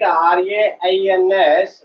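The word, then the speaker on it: reigns: Okay, if you write R-A-I-N-S, that is also possible, rains, plural form of rain. But this is R-E-I-N-S. R-E-I-G-N-S, G is silent. So its pronunciation is rains.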